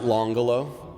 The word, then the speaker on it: L'Angolo: So I pronounce it Longolo. It's spelled L''Angolo, and then we use the word estate afterwards.